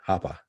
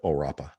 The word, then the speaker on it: O Rappa: brazilian band there uh not uh oppa right hapa instead of o rappa i think that's what